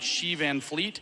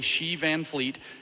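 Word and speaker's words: Xi Van Fleet: friend of mine named she van Fleet oh she's amazing she is spelled x i van Fleet is spelled the way you think it is she's incredible she's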